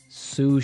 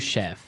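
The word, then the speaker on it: sous: word susha sush Chef suf suf s o u s so the S is silent because it's like a French word yeah something like that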